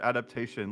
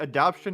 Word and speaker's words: adaptation: I I I how how is he a writer and he doesn't know how the how to say the word adaptation? Like adaption is something entirely different.